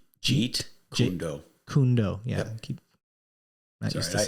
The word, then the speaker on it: Jeet Kune Do: Jeet Kune Do.